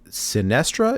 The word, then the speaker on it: Sinestra: so it looks like next up is um sinestra if i'm pronouncing that right that is correct yes so